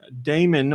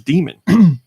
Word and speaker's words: Daemon: came out this week Damon or demon because every time I say it somebody tells me I'm saying it wrong I think it's demon even though it's spelled Damon dime ex machina or